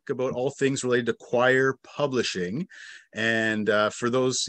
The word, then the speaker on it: Quoir: a little bit about choir so yeah I'd say real quick choir is it's not it's pronounced choir it's spelled q-u-o-i-r right um just to